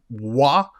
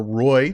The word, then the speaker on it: Roy: 45 seconds in as Nicholas wah or Roy depending on how you like to pronounce it scored his fourth of